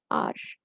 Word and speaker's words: appetizer: So it is spelled as Appetizer. And the pronunciation is appetizer. Appetizer. Okay, so what is an appetizer? Let's see that. So the term is appetizer with the last R being silent.